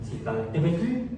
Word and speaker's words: Citlaltépetl: Sí, Citlaltépetl, escuche ese pequeño que se pronuncia. Citlaltépetl, con T al final.